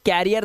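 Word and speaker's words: career: पढ़ते हो कर रियर करियर ठीक है ठीक है ये क्या है करियर यह कैरियर नहीं है। कैरियर नहीं है। इसे कैरियर नहीं पढ़ते। गलत लिखा है यह। इसे पढ़ते हैं करियर।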